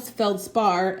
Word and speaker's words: feldspar: It's spelled feldspar, S-P-A-R, but they don't usually pronounce the R at the end.